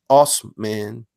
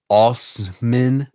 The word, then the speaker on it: Asman: But the rejection hasn't deterred Asman from changing his name, which he said is derived from German and pronounced Osman. Wait, where? It's pronounced Osman.